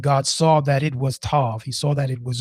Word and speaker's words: tov: It's three letters, t o or t u v or T O V and it means it's everything that we need to hear and it's packed into this single syllable.